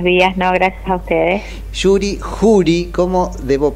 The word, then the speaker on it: Juri: atendernos Hola buenos días No gracias a ustedes Yuri juuri Cómo debo pronunciarlo correctamente Juri juuri juuri así de sencillo así de sencillo